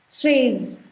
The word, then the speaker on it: treize: Next is treize. Treize. You've got EI ka sound, that is A, and there is treize.